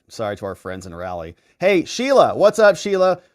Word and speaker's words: Raleigh: Hey, Cindy DeTore says, Rob, it's pronounced Rowley. 12 red counties in Rowley, North Carolina. All right. Thanks for that one. I'll botch it next time. Sorry to our friends in Raleigh.